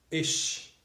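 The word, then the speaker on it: אש: estão juntas significa fogo se pronuncia ich ich hebraico significa fogo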